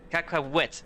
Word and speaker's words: Cacahuete: Okay, that's more or less cacahuete. That's more or less the correct way to pronounce.